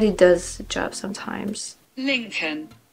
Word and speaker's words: Lincoln: Lincoln. Oh yeah, okay. You don't pronounce the N.